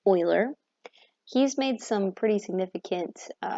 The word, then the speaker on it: Euler: His name looks like it should be pronounced Euler, but it's actually Euler.